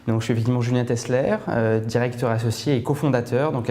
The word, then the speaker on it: Tessler: Alors, tu vas nous présenter, donc j'informe les internautes, c'est Julien Tessler, ça se prononce Tessler? Tessler, tout à fait.